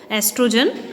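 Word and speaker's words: oestrogen: इसकी जो स्पेलिंग है, अब ओ लिखा है लेकिन आप इसको एस्ट्रोजन कहेंगे, एस्ट्रोजन और प्रोजेस्टेरोन।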